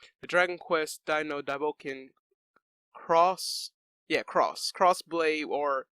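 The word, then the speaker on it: Xross: dragon quest dino dabokin cross yeah cross crossblade or x where they have it spelled as x r o s s which is pronounced cross uh arcade game is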